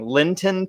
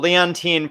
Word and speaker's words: Leontyne: show and i'm going to say it wrong lynton price leontyne leontyne oh my gosh that was terrible leontyne price thank you she was born today in